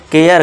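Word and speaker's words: care: केयर करे नहीं केयर कर देना है।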